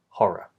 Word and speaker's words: horror: We just say one quick R consonant, horror.